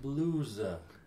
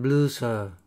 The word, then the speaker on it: blues: Why is the how do you pronounce this S? Blues. Blues. Why? Because is a vowel. It's a plural It's a of plural. a word ending in a vowel sound. Vowel sound. Blue, Blues. blues.